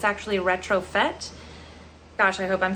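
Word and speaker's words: Retrofête: Now, I was pronouncing this brand incorrectly for a long time. I was saying retrofeet, but it's actually retrofit.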